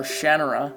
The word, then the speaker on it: Shannara: And I'm going to be nostalgic and name my character after somebody from the Shannara novels, or Shannara, as I've also heard it pronounced.